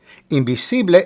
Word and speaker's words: invisible: Invisible is spelled exactly the same as it is in English, and it means the same thing. However, make sure to pronounce each I with a double E sound.